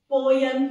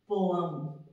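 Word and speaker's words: poem: जो मैंने लि पोयम इट्स अ रंग प्रोनंसिएशन यह रंग है इसको कैसे प्रोनाउंस करते हैं हम पोम ठीक है I love to right पोयम्स I love to right पोम ठीक है आई लव रीडिंग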